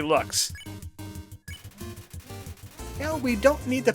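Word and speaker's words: Loox: is a looks no it's not pronounced looks it's clearly looks now we don't need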